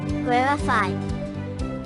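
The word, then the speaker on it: rarefied: conversation of brilliant Scholars to correctly pronounce rifi accent the first syllable rarify in addition to high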